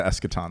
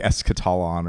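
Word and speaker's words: eschaton: radical ideology accelerationism manze the escaton the escaton that's right I would have pronounced that word correctly if you just give me half a second to say are you sure no no I was going to say like es catalon or some I'm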